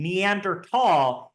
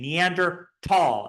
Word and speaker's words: Neandertal: pronounce the common name neander tall you say it with a hard T sound and you do not spell it with an H it is a hard te neander tall and so when you're